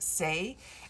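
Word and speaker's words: Saie: and it, I think, is pronounced Say, and it's S-A-I-E, and it's one that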